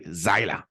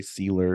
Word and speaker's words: Zyla: Yeah, mine's actually Zyla. That's Yeah. how you're supposed to say it like that. But Zyla. yeah, Zyla. But nobody does. They always say Sealer or whatever.